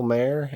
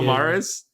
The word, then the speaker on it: Maher: I'm saying uh for the mention of Bill Maher and cannibal women and the avocado Jungle of death the more I knew I was saying it wrong you know Bill Morris I know who Bill Maher is does he